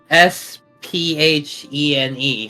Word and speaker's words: Sphene: Even though it's supposed to be an F sound like a phone.